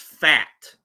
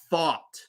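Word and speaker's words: Pfaadt: a a d t that is not pronounced fat okay it's Brandon thought the right-hander for the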